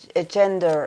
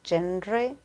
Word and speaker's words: genre: Actually, it's not gender, it's genre.